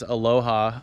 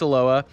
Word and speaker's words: Aloha: about it they they refer to it as Aloha um honest mistake but it's pronounced Aloha like we've been saying and there is some